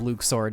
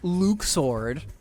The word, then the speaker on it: Luxord: Oh, I'm sorry, Luke Sword. My bad, I gotta pronounce it the right name, right way from now on. The fact that Luxord doesn't have luck pronounced anymore is an actual mistake.